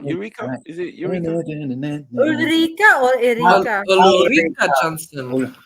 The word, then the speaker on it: Ulrika: Is it Eureka? Ulrika or Erika? Ulrika Johnson. Eureka. Ulrika. Is it Ulrika or what? Ulrika. Ulrika. Okay. I swear it's a Swedish name or something, so you can probably pronounce it.